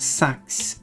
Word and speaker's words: sax: Did you know that sax, or actually pronounced sax, is the Swedish word for scissors?